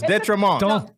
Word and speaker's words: d'Entremont: Detremont. Am I saying that right? Close. Detremont. Don't Tremont.